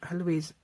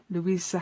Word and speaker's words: Louisa: Yeah, I've got a video on Brushos, but I know that Louise, hold on, let's pronounce it properly, Louisa Hensel has video on Brushos as well.